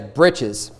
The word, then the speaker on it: breeches: Verse 42 talks about the linen breeches, which you might more commonly know today as breeches. It's an older word, but it's spelled here breeches.